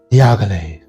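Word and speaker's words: Dior: say it like that you have to say diag Okay that that's just how you have to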